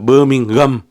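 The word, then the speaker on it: Birmingham: விழுந்து விழுந்து திருப்பினோம் உங்களை ஒரு மாதிரி பார்ப்பினம் நீங்க பெர்மிங்கம் பெர்மிங்கம் என்று சொல்லணும் என்று சொல்லி அந்த உச்சரிப்பு கூட சரியா இல்லையா என்று எனக்கு வடிவா தெரியல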